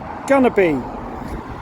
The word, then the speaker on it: Gonerby: Even though it's spelled going to be, you pronounce the O as a U. So it's actually going to be.